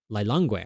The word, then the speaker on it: Lilongwe: Lilongwe, I think is how it's pronounced.